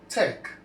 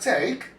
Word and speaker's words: take: The other one we have here is the word take. In the word take we have three phonms. How do we know that? We have four letters here. Why three? Because the letter E here is silent and then we have T.